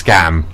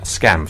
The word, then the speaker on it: Skam: The second letter's No, it's Scam.